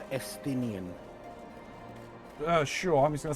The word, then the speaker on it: Estinian: So, that name's pronounced Estinian.